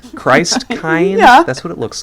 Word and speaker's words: Christkind: it is well yeah Krist Kint is the way that it's pronounced so Kint like Kinder you know Kinder Garden